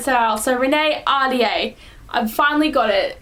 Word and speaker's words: Ahdieh: Now, I feel really bad because I didn't realize I was pronouncing her last name wrong. I was calling her Ahdieh. So I was kind of saying it, but it's, my friend recently told me that it's Ahdieh, and I'm like, oh, well,